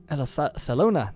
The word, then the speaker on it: Salona: very upset here but that yeah we just took that city and Salona Salona that's how you say it we're definitely going